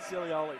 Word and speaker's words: Zilioli: Ravioli, Zilioli, that's how we're going to remember it.